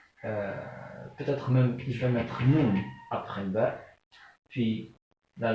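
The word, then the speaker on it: ن: La lettre Noun, qui correspond à la lettre N dans l'alphabet français.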